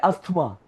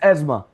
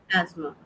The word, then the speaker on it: asthma: Like we say asthma, it's asthma. एजमा।